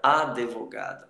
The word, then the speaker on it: advogado: Alguns falantes, algumas pessoas pronunciam a palavra advogado. Advogado, coloca um e na prosódia isso fica meio estranho. Mas é sim uma variação de fala, tá ok?